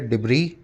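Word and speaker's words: debris: देखेंगे अगला वर्ड है डिब्र पीछे एस लगा हुआ लेकिन इस एस को प्रोनाउंस नहीं करते हैं यह डिब्र बोला जाता है डिब्र नहीं बोला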